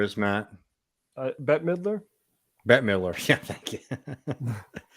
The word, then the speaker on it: Bette Midler: good tweet on it do you know uh betty midler is matt uh bette midler bette miller yeah thank you i don't but